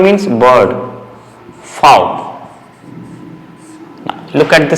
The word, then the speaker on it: Vogel: Vogel means bird. Fowl. Now look at the sound. V gives the sound of F.